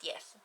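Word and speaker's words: d'Eath: I mean, it's got the apostrophe, so I'm trying to pronounce it like that, but it's literally spelled death. But I'm pretty certain it's pronounced Dieth.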